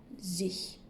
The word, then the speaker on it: sich: Essayez de retenir, pour faciliter la prononciation, le pronom ich avec un S devant, sich.